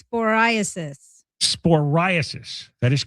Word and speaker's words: cyclosporiasis: Another day, and there's more and more of these cyclosporiasis cases. You've been reading this thing. How do you pronounce Cyclosporiasis.